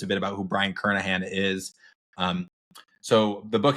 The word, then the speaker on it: Kernighan: would be so Brian kernahan one it looks like it's spelled Brian Kern again that is not true we learned that after